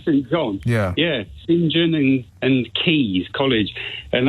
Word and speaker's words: St John: well which you would you and I would say St John but but Oxbridge types pronounce singen they don't say St John yeah singen and and keys college